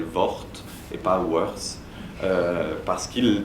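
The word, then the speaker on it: Worth: on doit s'en réjouir lui-même aimait bien qu'on prononce son mot son nom à la française VT lorsqu'on voulait lui faire plaisir et qu'on le prononçait à l'anglaise il rectifiait disait non non je m'appelle VT et pas worse parce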